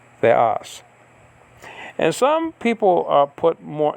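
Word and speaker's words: θεός: There's 2 syllables in theos, right? You have the, and then you have as. You don't say theos, you say theos.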